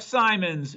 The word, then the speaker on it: Simons: be hard to beat jeff simons rhymes with diamonds look at him go